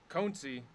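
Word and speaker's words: Konecny: Number to 49, we have Travis, I believe, Conci is how you say his last name, for the Philadelphia Flyers.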